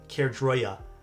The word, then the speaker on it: Caerdroia: The Kroy I still suck at pronouncing this comic, but I think it's the Kroya.